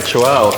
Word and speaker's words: Chuao: How do you pronounce it? Chuao. All right, Chuao.